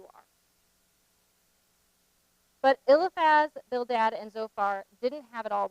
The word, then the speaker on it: Zophar: So here's the pronunciation. So we have Eliphaz, the Temanite, Bildad, the Shuhite, Zophar, the Naamathite.